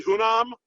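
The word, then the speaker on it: Hunnam: and I might need some help with the pronunciation on this Charlie hunam yeah yep did I get that right yeah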